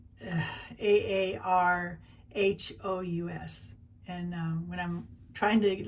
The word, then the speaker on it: Aarhus: It's, I pronounce it AARHUS, but it's AARHUS. And when I'm trying to listen to the gal say it, it was AARHUS.